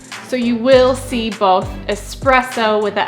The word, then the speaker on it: espresso: But if you want to say it in the most authentic way, close to the Italian 'espresso', you want to say it without the /k/ sound, ESpresso, ESpresso.